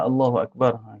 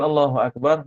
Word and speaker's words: Allahu Akbar: tersebutlah baik juga kalimah Allahu akbar kita niilah soalanlah supaya kita ada boleh kita syarahkan insya-allah baik Kalau lafazkan allahuakbar Maka jangan panjangkan Bar jadi bab ni nanti